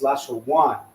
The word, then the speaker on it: Lashawan: But when two characters are connected, the last character, the a, so like I won't say the a because that's like English terms, right? But the a, because it's na, right? Wa, so the a will fall off. So it'll just say one instead of wana, right? Lasha wana, it's lasha one.